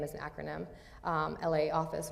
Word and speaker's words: LA Office: is an acronym um LA office or pronounced law office um here's a photo